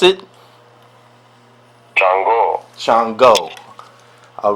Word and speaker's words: Chango: How you pronounce it? Chango.